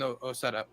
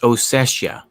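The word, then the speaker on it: Ossetia: Georgia of of southern Osetta. Uh, I never pronounce it correctly. Oetta, I believe it is. There's an I in there. It's Oessia.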